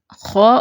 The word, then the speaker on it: خاء: تلفظ دیکھتے ہیں۔ پہلے خاء کے لیے دیکھتے ہیں کیسے اس کو ادا کرنا ہے۔ اس کو معمولی سے لمبا کر کے ادا کیا جاتا ہے، جیسے خاء خاء، ٹھیک ہے۔ ساکن ہوگا خاء تو کیسے پڑھیں گے؟